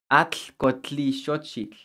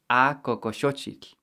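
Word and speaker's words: Acocoxochitl: And they said, try to pronounce this. Atl-cotli-xochitl. And that's not at all what this flower is called. It's called A-coco-xochitl. A-coco-xochitl.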